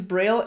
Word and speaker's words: braille: i saw this illustration it's bray braille or whatever however you pronounce it in english it's braille and i mean it's